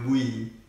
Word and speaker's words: bui: Okay, next kita bui. Bui. Bui. Bui ni macam bagi. Oh, bagi. Ha. Maksud, bagi.